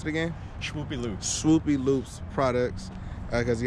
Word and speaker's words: Shwoopy Loops: I will put the description below for all the, how do you pronounce it again? SHWOOPY Loops.